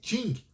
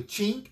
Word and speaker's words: Qing: O Eduardo está dizendo aqui, meu caríssimo embaixador, pronuncia-se Qing. Muito bem, obrigado, Eduardo. Qing a última dinastia, né, na China, que acaba em 1912.